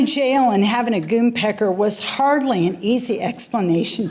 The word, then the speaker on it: Goonpecker: If buying a jail was not a curveball, I was also swept off my feet by a goon pecker. Yeah, Goonpecker. You spell that Goonepecker.